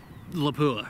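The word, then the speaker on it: Lapua: box of like say laua right or laa if you want to say it correctly um you go buy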